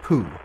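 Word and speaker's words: P00: the idle program and is always pronounced food Mission Control will ask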